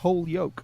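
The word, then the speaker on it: Holyoke: International wow we only got 5 minutes left H yoke H yoke ma H yoke Massachusetts oh it's actually pronounced H yoke okay H yoke okay right H Yol Massachusetts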